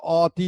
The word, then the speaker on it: অতি: আবার যখন লিখছি অ ত রস্বইকার তখন কিন্তু আমরা অতি বলছি না, আমরা কি বলছি অতি। এই অ দিয়ে লিখছি ঠিকই, কিন্তু আমাদের উচ্চারণ হচ্ছে ও, ওর মতো।